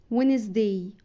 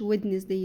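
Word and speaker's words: Wednesday: فمنطقش الدي غلط ساندوتش وينز داي وينز داي اللي هو يوم الاربعا ما بقولش ودنس داي لا وينزداي جران با جران اللي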